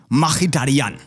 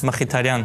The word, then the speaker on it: Mkhitaryan: He's not called Targaryen, and if you're saying it in his native Armenian, he's called Henrik Mkhitaryan, according to himself. Mkhitaryan.